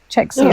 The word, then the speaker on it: Czechia: I can't even pronounce that. Czech Republic? No. Czechoslovakia? It just says CZECHIA. Czechia.